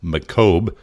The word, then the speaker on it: Macomb: Bigfoot are filming in Macomb County, but they are unsubstantiated. Being that I'm from Chicago, I know it's not pronounced Macomb, it's Macomb.